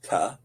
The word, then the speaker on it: Tet: Well, Tet is pronounced Ta, like T, as is Tav.